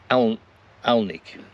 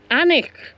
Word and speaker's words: Alnwick: We So, we came to Alnik. No, you said it wrong again. You don't say the L. No. Anic.